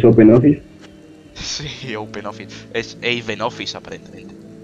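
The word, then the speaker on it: OpenOffice: me he dicho que no se pronuncia Ben offis pero a Ben offis es Open Office Open Office esen Office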